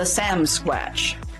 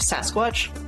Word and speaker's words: Sasquatch: So anyways, so they have a family story about the Samsquatch, which it's really just a mispronunciation of Sasquatch.